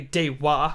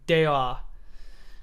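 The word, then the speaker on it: では: in your pronunciation so it's not exactly de wa or de ha it's more like deo it's like uh it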